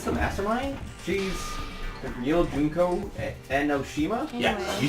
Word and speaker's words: Junko Enoshima: She's the real Junko Enoshima?